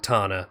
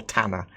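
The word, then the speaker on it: Tana: Tanner that that is I'm assuming it's pronounced the Reliant Tanner because obviously with with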